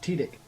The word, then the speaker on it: Tydek: it pronounced Tidik. Yeah. If I'm Yeah, not Tydek, mistaken.